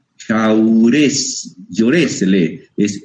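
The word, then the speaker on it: Jaurès: está dividida su obra en tomos se llama jaurés se escribe con j jaurés lor se lee es jaurés se escribe jaurés yor jaurés jor es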